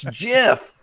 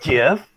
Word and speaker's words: GIF: points when you said it's jiff not Jeff it's awesome it's the